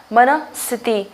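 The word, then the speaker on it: मनःस्थिति: तो मन आएगा पहले और उसके बाद विसर्ग, यानी जिसको हम ह प्रोनाउंस कर रहे हैं, और उसके बाद जो है वो स्थिति, यानी कि मन स्थिति।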